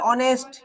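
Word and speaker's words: honest: অনেস্ট আর বালক হচ্ছে বয়।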